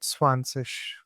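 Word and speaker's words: zwanzig: So how we are pronouncing it? Swansish.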